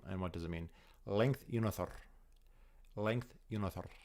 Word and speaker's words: Lengthyounarther: Length Unothor. Length Unothor. You got to roll the R at the end.